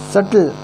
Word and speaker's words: subtle: that subtle shift, that subtle SUBTLE, B is silent.